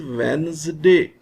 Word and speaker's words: Wednesday: the sound of d this is wednesday wednesday the this d is silent in the same way